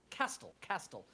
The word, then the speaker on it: Castell: Castle. Definitely Castle. pronounced different.